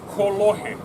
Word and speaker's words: kolohe: very mischievous, or as we say in Hawaiian, kolohe. Ho'opi, I repeat after me, kolohe.